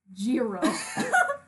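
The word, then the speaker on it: Gyro: Get this, they spell it like Giro with a G-Y instead of a J-I. Here's the thing, at first I was spelling it J-I-R-O, but then I went back and checked the subtitles because I know I can never, just guess how names are spelled on this show, and it's G-Y-R-O.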